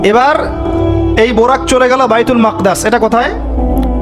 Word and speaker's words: বাইতুল মাকদিস: এবার এই বোরাক চলে গেল বাইতুল মাকদাস। এটা কোথায়? বাইতুল মাকদিস, সরি বাইতুল মাকদাস না, বাইতুল মাকদিস। বিভিন্ন মানুষ বিভিন্ন উচ্চারণ করে।